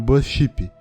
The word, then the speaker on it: BuzzShip: E eu achei que combinou muito mais do que os outros nomes, porque meio que a letra Z emenda com a pronúncia da letra S.